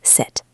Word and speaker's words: sit: Let's try the word sit. si t. Sit. Sit. Please sit. Now let's see what happens when we put this in a phrase. This is where the stopped t is very useful for speaking quickly. If you say sit down and you release the T, it is difficult. Sit t down, it is hard to do fast.